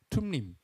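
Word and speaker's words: 툼밈: 그러니까 원래 둠림이 이렇게 디귿자로 우리는 생각하기 쉽지만 티귿에 가까운 발음이죠. 툼림 이런 단어죠.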